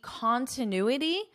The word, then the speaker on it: continuity: be continuity and stability notice the pronunciation here continuity continuity because you're probably very familiar with the pronunciation of the word continue right continue and it looks just like this but it's not continuity continue and then you add a t continuity no continuity continuity continuity is a noun and